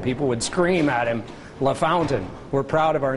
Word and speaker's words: LaFontaine: In the NHL, it's Pat LaFontaine. Yeah. But here it's LaFountain. Which one would you say it is technically? Well, LaFountain, but I would never